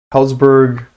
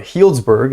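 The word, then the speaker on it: Healdsburg: i'm going to keep doing it for sure helzberg or sorry healsburg is how it's pronounced apparently leightonville eureka um reading i wish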